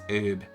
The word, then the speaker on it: herb: White herb. Possibly, Wells, possibly. Yeah, if one I see most Americans do, any. But then us Brits do pronounce the H for some reason, so, yeah.